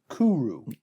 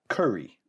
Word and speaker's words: Kuri: It's Kuru. Kuru. I think that's how they pronounce it. Okay. Yeah. Not curry. That's how I would pronounce it. Yes. No, it's Kuru. And I think it sounds like Kooroo.